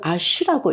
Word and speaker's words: H: 아트 살롱드 아시 그가 어떻게 만들어지고 어떤 의미가 있는 건가요? 사실은 저의 이름의 이니셜 H가 어 프랑스 프로로는 아쉬라고 읽거든요.